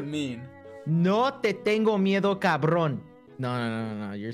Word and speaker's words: cabrón: No te tengo miedo, cabrón.